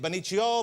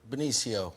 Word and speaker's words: Benicio: Am I doing the pronunciation? Is it Benicio, Benicio? How do I say the name correctly? Benicio.